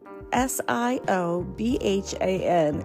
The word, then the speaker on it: Siobhan: name you know but is pronounced Siobhan just so you know